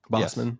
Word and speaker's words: Bosman: Bossman. Yes, please. But it's spelled it's spelled like B O S M. Yeah, it's pronounced like boss man, but it's but it's spelled like spelled Boseman.